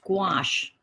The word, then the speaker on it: gouache: And the colors are, she used gouache that rhymes with squash.